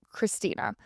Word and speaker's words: Krystena: Christina Murray, her name is spelled a little funny though, Krystena, but Christina.